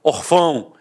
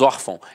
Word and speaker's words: órfão: falaria órfão, eu falaria orfão. E não é o caso. Nós falamos órfão, então a sílaba tônica está na penúltima e é acentuada.